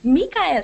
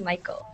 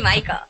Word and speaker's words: Mikael: I'm like, oh, Mikael. He's like, no, it's actually Michael. Oh, really? Yeah, it's actually Michael. So now you guys know. When you read that, it's actually like it's pronounced like the traditional name Michael, but it's spelled really strange.